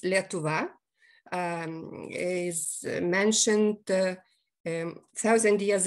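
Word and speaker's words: Lietuva: name on lithuania which is in our language pronounced letova is mentioned a thousand years ago more than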